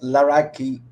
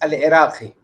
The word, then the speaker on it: Laraki: Yeah, my name is pronounced Laraki, but really it's Al Iraqi. Yes, yeah, I know. This is how Moroccans pronounce it.